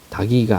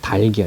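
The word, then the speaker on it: 닭이: 평상시에음을 을 잘못하는 거야 아이 집 닭기 맛있어 다이라고 발음하는데 다기가 아니라 달기 달기 여기는 앉아서 뒤에 거를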